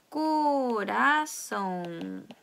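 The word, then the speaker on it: coração: 이것은 꼬라송 이렇게 발음을 합니다. 그래서 꼬라, 그래서 리을 발음이 나죠.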